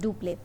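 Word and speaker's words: Dupleix: The term was introduced by, write it down, इसको लिख लो, it was introduced by French Governor General Duplé. Okay, X is silent, it is Duplé.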